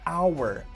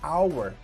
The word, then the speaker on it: hour: Ambos começam com H, tanto o house quanto o hour, mas hour é pronunciado com A, hour, hour.